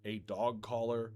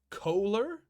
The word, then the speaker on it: collar: They're two words that they're spelled different, but they're pronounced the same.